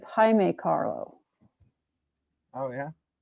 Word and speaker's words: Jaime: It's not Jamie Carlo, it's Jaime Carlo. Oh yeah. It's not Jamie? No. If the I comes before the E, it's the Spanish version. It's Jaime.